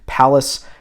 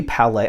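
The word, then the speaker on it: Pallas: is pressed at leave what's pronounced Palace in Germany could be Palais I don't think it's Palais right it's Palace right in uh in Germany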